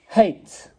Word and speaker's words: hate: Hate. This is the word. Hate. This E is silent. It's not hate. It's not hate. It's silent. And it's changing that sound and making it into a long sound.